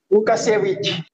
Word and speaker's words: Łukasiewicz: Gimana nih bacanya Bang Laude? Lukasiewicz.